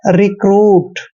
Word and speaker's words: recruit: और देखिए यहाँ पर आर का उच्चारण हमने रे करना है और यू का उच्चारण ऊ की मात्रा करते हैं और टी को हमने टे पढ़ना है, रिक्रूट।